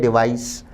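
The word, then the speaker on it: device: देखिए ये डिवाइस है, उच्चारण पे ध्यान दें। डिवाइस स की ध्वनि आएगी।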